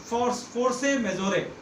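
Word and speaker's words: force majeure: अगर हम इसको फ्रेंच में स्पेल करें तो इसका प्रोनाउंसिएशन कुछ ऐसे होता है, फोर्से मेजोरे।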